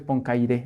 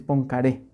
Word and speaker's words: Poincaré: Tampoco es Poincaré, es Poincaré.